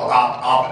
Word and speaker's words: Opp: being down south, you know, and there's a little town called Op, Alabama.